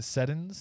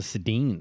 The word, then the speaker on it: Sedin: DJ Ringside, you got the Seddins. Is that how you say it? Oh, the Sedins.